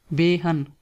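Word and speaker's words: بہن: And sister is behan. Behan. First say be and then say han. Behan.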